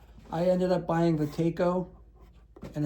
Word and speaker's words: Taco: So I ended up buying the Taco, and it's not taco for people that aren't from around Rhode Island. It is Taco, not taco. But if you want to pronounce it taco, you go right ahead.